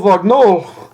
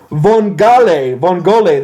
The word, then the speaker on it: vongole: If you order your linguine con lo vagnol, they'll give you sauce made from what mollusk? Please pardon my pronunciation on that.